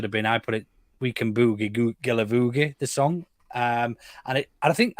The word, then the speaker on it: Guilavogui: on his video, and it rhymes very well with boogie. So I think that the song should have been, I put it, We Can Boogie Guilavogui, the song.